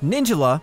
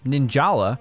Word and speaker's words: Ninjala: On the surface, Ninjala, as it's pronounced, not Ninjala, may look like a